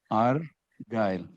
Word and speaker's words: Argyle: He divided it into two, Argyle.